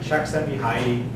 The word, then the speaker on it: Csikszentmihalyi: But if you're really interested in the topic, you want to do a deeper dive, Csikszentmihalyi, it's CZE and a whole bunch of other stuff.